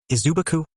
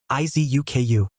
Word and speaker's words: Izuku: Izubuku? Zia tried to say his name but said it wrong as it was hard to say for her, which the boy choked a bit. No, Izuku, Izuku said, trying to help the girl on